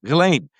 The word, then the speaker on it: Ghislaine: And the S is silent. The G is hard. Ghislaine, thank you so much.